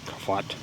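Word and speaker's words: Kafot: I talked to Kafat. I mispronounced it yesterday. It's not foot, fat. K-A-F-O-T. Not K-A-F-O-O-T.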